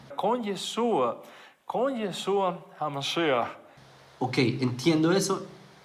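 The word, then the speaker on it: ישוע: él no sepa decir el nombre de su propio Mesías de que él no sepa decir yeshua sino que diga y a suba sin la letra Shin con yeshua OK entiendo eso y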